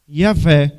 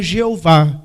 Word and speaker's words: Yahvé: Yahvé. Por isso que não é Jeová.